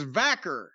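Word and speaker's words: Vaquer: that in any way I said Stephanie VOR if that is indeed how you pronounce her name v i I think it's vaker well she had a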